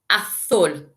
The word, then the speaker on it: azul: So we've got rojo, azul, amarillo, verde, and naranja. Remember, the J makes a sound. Rojo, naranja. The Z makes a sound. Azul.